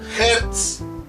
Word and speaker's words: hertz: se las había escrito se pronuncia así bueno se escribe así h de zetap se pronuncia como hertz y se abrevia de